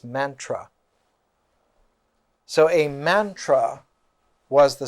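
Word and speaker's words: manthra: form of the poem the ancient word in avestic was mantra m-a-n-t-h-r-a and the sanskrit pronunciation of that is mantra so a mantra was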